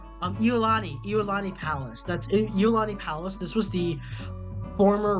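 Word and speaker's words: Iolani: This is um how do I pronounce it again? Lului Palace, I think. Let me let me pull that up. Um um Eulani Eulani Palace. That's Eulani Palace.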